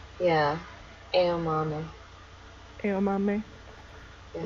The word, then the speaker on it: Aomame: Aomame? Yeah. Aomame.